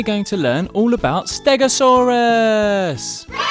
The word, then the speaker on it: stegosaurus: to learn all about stegosaurus how do you say that again stare go saw russ can you say it